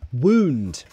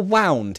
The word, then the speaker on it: wound: yeah ed of Iggy wound or wound it depends that spelling has two different pronunciations if it's the past of wind then it's wound ow ow what the